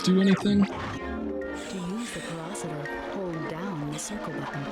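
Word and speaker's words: Pyrocitor: To use the porositor, hold down the circle button. Oh, that's how you pronounce it. Porositor. Alright. And there's pyro in the name. I figured that would be more enunciated like that, but alright.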